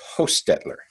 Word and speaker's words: Hostetler: outset so except that her name is pronounced host Edler really yeah because well